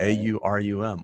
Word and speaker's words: Aurum: Aurum. Right. A-U-R-U-M.